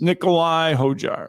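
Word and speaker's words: Nicolai Højgaard: I got to remember the D is silent in the name. But um yes, Nicole. Yes, it's Nikolai Hojar.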